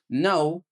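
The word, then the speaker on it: know: الكي ان الكي ان لو حرف الكي ايجا بعده حرف الان مش بننطق الك زي مثلا نو يعني ايه عارف ني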